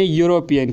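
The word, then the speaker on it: European: होता है लेकिन यहां पर जो है वह साइलेंट रहता है और यहां से जो साउंड निकलती है व है वहीं की यानि यूरोपीयन की तो इसीलिए यहां पर इस्तेमाल होगा यह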